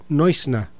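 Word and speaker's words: Neusner: eh Jacob eh Newner, yo no sé cómo se pronunciará eh el apellido eh en inglés. Eh, el apellido es de origen alemán. En alemán se dice Jacob Noisna. Ese es el la pronunciación original pues del nombre de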